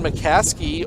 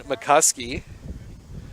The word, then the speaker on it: McCuskey: oh one for three excuse me i keep saying that wrong one of those names i've got the wrong pronunciation stuck in my head and i can't get rid of it ryan mccuskey first pitch a little